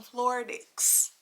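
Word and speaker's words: Floradix: to do get you some floor dicks but that's how you pronounce that but I take this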